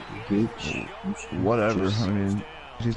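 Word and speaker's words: Guice: Gooch. Whatever. I mean, he's not gonna Geis. fumble the It's ball, Geis. so good to know. It's Geis.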